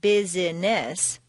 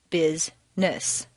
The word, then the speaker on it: business: actually spoken for example business is not business but rather busness just when you get